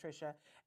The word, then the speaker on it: Trisha: a problem with that it's spelled Trisha it's pronounced Tricia and Bob Demarco